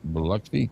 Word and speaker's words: Biloxi: Biloxi Biloxi Biloxi that's how you say it there Kathleen.